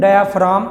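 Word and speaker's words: diaphragm: तो vibrating डायाफ्राम, यहाँ पर जो जी है वो साइलेंट है, तो लिखेंगे ज़रूर, पढ़ेंगे नहीं। Vibrating डायाफ्राम ऑफ a drum produces sound energy.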